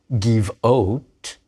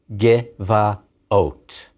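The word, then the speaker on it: גְּבָעוֹת: But giv'ah, a hill, not giv'ot, but gevaot, hills.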